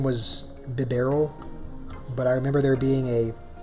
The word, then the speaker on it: Bibarel: I'm pretty sure Bibarel is how you pronounce that.